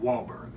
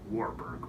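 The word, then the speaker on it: Wahlberg: punched a mark warberg you do understand it's pronounced wallberg not warberg but that's neither here nor there but it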